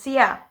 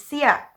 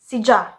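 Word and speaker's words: siya: the common one is sia that's what we are using in some region some people say or so they replace y with letter j and they pronounce it as sija so now that we've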